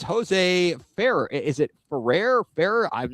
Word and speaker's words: Ferrer: If you can roll your RS, you should do it. Ferrer, we got Jose Ferrer.